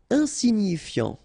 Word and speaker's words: insignifiant: Insignifiant. Okay, final T not pronounced, so you've got this I-A-N, ian, so F before, fiant.